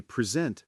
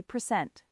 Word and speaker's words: present: Present. Got it. But if I say present, stressing the second syllable, it becomes a verb, meaning to show or give something.